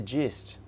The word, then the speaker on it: gist: can before I forget Crispian says oh it is a soft G do you get the gist gist gist gist yes you can